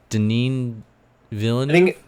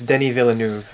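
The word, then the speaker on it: Denis Villeneuve: pronounce the director's name is it deneen villain i think it's denny villeneuve there it is but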